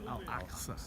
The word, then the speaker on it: Al-Aqsa: Al-Aqsa. Al-Aqsa. AQSA. There it is. I'm going to say it on camera so I have it. Al-Aqsa Mosque. Al-Aqsa Mosque. This is the Al-Aqsa Mosque?